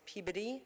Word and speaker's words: Peabody: the Peabody Museum okay which I've been told I said it wrong it's peid okay the peid museum okay anybody with now like anytime anybody use this as PE I'm going like oh please shut up okay the peab museum